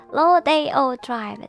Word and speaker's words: Rodeo Drive: It is pronounced Rodeo Drive.